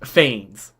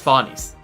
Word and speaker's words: Phanes: the fuck out because Faunus is not pronounced Fanes. Me when Greek pronunciation is different than English pronunciation. I think like Ian's VA calls it Fanus, which. Or Phanes? It's closer, but it's not exactly correct. I think the actual Greek